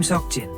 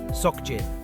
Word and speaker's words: Seokjin: The BTS member Jin's name is Kim Seokjin, not Seokjin. That soft S is what you need to say it properly.